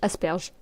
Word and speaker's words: asperge: Asperers.